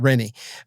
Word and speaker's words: Renee: guy's name was renie was spelled like Renee but he called it renie but I mean he